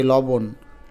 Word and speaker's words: লবণ: প্রথমে ল ঠিকই আছে ল বন নাকি লবণ তাহলে ল বং মূর্ধন্য পানি না বলে দন্তন্য লিখবো দেখো লবণ তুমি উচ্চারণ করে দেখো এটাই উচ্চারণ করো লবণ এবং নর নিচে হসন্ত দিতে হবে কারণ নর উচ্চারণটা এখানে অল্প হয়েছে এ শব্দটা লাবণ্য লাবণ্য একটু